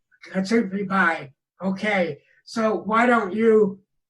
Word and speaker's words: Kamishibai: theater called, and I'm not sure I can pronounce it right, but it's Kamishibai. And yes, Kamishibai. Kamishibai.